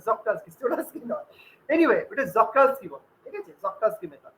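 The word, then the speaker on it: Czochralski: আছে দেখবে সি এর, জক্রালস্কি উচ্চারণ, সি এর প্রোনাউন্সিয়েশন ওটা সাইলেন্ট থাকে, ঠিক আছে, ওটা জক্রালস্কি, চোরালস্কি নয়। এনিওয়ে ওটা জক্রালস্কি বলে, ঠিক আছে, জক্রালস্কি মেথড।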